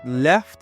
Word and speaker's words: left: I'm going to repeat, for the word left, if you want to pronounce it, you can drop that T.